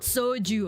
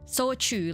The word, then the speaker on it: shochu: I believe it's soju. Yeah. Not soju, okay? Sochu, like the Japanese one.